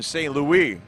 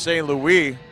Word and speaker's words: St Louis: are up and Stephan St Louie will play it for the Ambush it's spelled like St Louis pronounced St Louie it's like Martin St Louis in the NHL Ambush try and headed